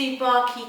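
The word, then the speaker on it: Tsubaki: Another product that unfortunately you can't buy in the UK unless you order from America is the Boscia, I think it's pronounced the Subaki Cleansing Oil Gel.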